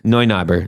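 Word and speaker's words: Neunaber: it's how's it spelled it's spelled like n-e-u n-e-u yeah that's noi noi knobber yeah then noi knobber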